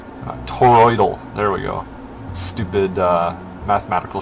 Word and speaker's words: toroidal: god that's tell me that's not hard to pronounce toroidal there we go stupid mathematical shape toroid yeah